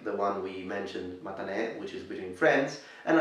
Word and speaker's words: matane: That is matane, matane. So let's break it up for pronunciation. Ma-ta-ne, matane.